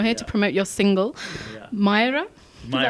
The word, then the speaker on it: Maayera: I feel like we haven't had you in London for a long time, and you're here to promote your single, Maayera. Is that how you pronounce it?